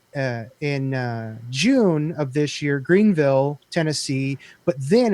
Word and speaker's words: Greenville: down there in Greenville Greenville I'm saying it wrong but when I say Greenville they say nope no how we say there it's Greenville you don't see it right